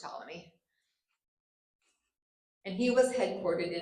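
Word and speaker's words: Ptolemy: or if you're feeling phonetically tal but it's pronounced taly and he was headquartered in Alexandria Egypt.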